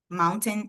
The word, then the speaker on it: mountain: Você fala a primeira sílaba, que é o primeiro som. Moun, mount, mount. E aí no último som você fala somente um, um ma um.